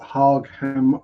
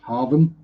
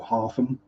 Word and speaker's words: Hargham: There are other things like locally a GH is pronounced as an F. So we've got pronouncing it as it's spelt, Hargham Road, or Hargham as a village, pronounced Hartham, or Hartham, depending how broad Norfolk you go.